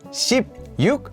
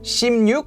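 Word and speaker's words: 십육: that are made related to numbers for example ship yuk for 16 is actually pronounced as shim yuk another one is also that the months for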